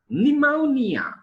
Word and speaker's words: pneumonia: Pneumonia. Pneumonia. Per is silent there.